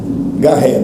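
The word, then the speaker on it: Garrett: Ricardo Garré, 2R, 2T. Tem esse detalhe, né? O Garré dele é 2R e 2T. Olha para ele. É mudo, T mudo. RRTT.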